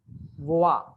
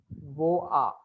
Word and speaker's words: vois: So these three and this, they are all pronounced as voa, voa. Like you pronounce it as voa.